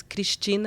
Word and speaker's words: Cristina: And then Christina in Portuguese is Cristina. It's quite hard to pronounce. And so it's like... it's not a word like... So it has a hard K on the front.